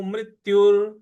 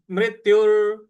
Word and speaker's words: मृत्युर्: आघात देना है और यु के बाद जो विसर्ग है उसका उच्चारण हमें र ले आना है तो मृत्युर तो पूरा पद बन रहा है आपका जातसह ध्रुव मृत्युर ध्रुव ध्रुव ध्रुव व